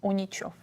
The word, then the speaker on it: Uničov: And it's pronounced? Unichov.